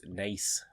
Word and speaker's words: Naas: It's Nace. Nace? Like the way you say mace, but with an N, yeah. Well, then it should be Nase. Or Nace.